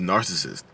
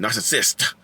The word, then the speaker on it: narcissist: And like the sidebar, people keep coming for me on my pronunciation of narcissist. They're like, you need it. There's an extra syllable. And I had this old woman on Facebook talking shit. She's like, we pronounce it over here in Mississippi. We pronounce it narcissist. I'm like, good for you. I hope you change the word with your extra syllable.